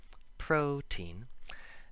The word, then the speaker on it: protein: the first rule include protein where we emphasize the first syllable but still make the t sound protein and bow talks and